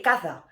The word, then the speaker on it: caza: So in Spain they will say caza, okay, and casa is a house, but in Latin America we pronounce both of them exactly the same, casa, casa.